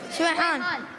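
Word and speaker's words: Sweihan: Is it Swayhan or Swehan? Swayhan.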